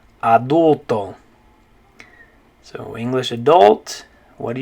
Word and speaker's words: adulto: in spanish it's going to be the word adulto so in english you say adult in spanish you say adulto so english adult what do you say in spanish good job adulto okay the next one i want to look